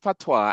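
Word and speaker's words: patois: It is pronounced PWA and it is the name of the Jamaican dialect. Okay. So when somebody says they speak PWA and the S is silent is really pronounced PWA, right?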